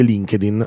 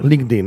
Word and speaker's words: LinkedIn: prima di tutto che non si dice LinkedIn Ecco già questo eh Com'è che è LinkedIn LinkedIn Ecco quindi già se